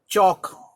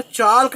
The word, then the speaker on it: chalk: तो टॉक का पास बेटा चाल्क, फिर वही मैं कह रहा हूँ, चाल्क बोलना ही नहीं है, चौक बोलो, चौक, L साइलेंट होता है।